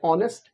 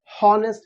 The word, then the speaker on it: honest: है वॉवल, जैसे कि ऑनेस्ट, हम कभी नहीं कहते हैं हॉनेस्ट, we always say ऑनेस्ट, क्योंकि हम लोग इसको ऑनेस्ट प्रोनाउंस कर रहे हैं, और